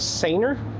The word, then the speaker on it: Sanooer: I was corrected on the pronunciation. They said it was Sanooer.